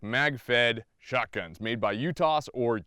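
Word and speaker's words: UTAS: you want to say I say you toss I'm American I'm not from Turkey I'm most likely saying it wrong I'm pretty sure it's you Tosh with us at the end of it but everyone says you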